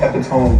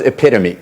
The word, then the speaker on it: epitome: This word for a perfect example doesn't rhyme with home. David, what is epitome?